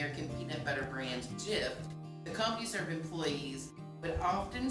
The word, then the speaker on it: GIF: would know it that it's jif like the peanut butter choosy mom and dads